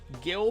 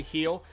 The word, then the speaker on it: Gil: dominican republic luis heal it looks like it's spelled gill but it's actually he'll he was acquired from